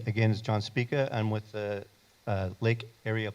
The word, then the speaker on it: Spica: in the John Speca? Spica. Spica.